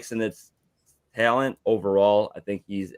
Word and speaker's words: Ben Sinnott: It's Sinnott, you said? Yeah, Sennett. Ben Sinnott. Okay, yeah, I had only honestly really heard the pronunciation through the footballers, and I know that